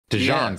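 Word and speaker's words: DeJean: the P say dejon If he if he says dein I think he's pronouncing it wrong dejon sounds right oh hang on I'm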